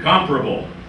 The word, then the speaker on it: comparable: the same place okay see comparable notice the stress on the first syllable place is not comparable